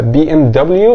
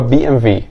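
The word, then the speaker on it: BMW: بي ام في طبعا ده علشان زي ما اتفقنا الدبليو في الالماني بتتنطق في ولكن لو انت عايز تقولها بي ام دبليو فما فيش مشكله ده نطق صحيح برضو بس النطق بتاع البلد بتاعتها هو بي ام في انسى بقى كل اللي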